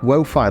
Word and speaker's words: Wo-Fi: it's but again it's it's meant to be lowii Wi-Fi lowii wofi wofi that's how you say it and it would be